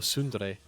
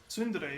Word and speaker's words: Tsundere: Or Sundere. Tsundere, yeah. I forgot. It's a very soft T. You pronounce the S harder.